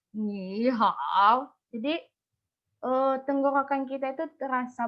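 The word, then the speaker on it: 你好: Setelah dimodulasi namanya, setelah dimodulasi nadanya akan dibaca menjadi ni hao. Sebelum dimodulasi, bacanya itu kayak gini. Ni hao.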